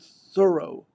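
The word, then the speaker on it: Thoreau: David Thorough a life people aren't used to seeing that name. It's not a New England name and they pronounce it thorough, she said in an interview. So did the man himself, judging from ample contemporary evidence.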